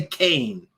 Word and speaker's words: Kean: I'll say it right the lady spells her name k-e-a-n that's Keen to me but no she wants people to say Kane because she wants to